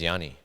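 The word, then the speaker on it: Γιάννης: with uh giannis and the proper way for for people to say his name in greek is is yani oh yeah you know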